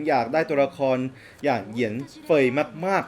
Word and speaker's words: Yanfei: ๆ เลย นะ ครับ ก็ มี คน ใน คอมเม้น บอก ว่า อ่าน ว่า เยือน สวย นะ ครับ แต่ แล้ว แต่ ว่า ผม หลุด ปาก พูด ไป ว่า เป็น หยัง ไฟ ก็ ต้อง ขอ อนุญาต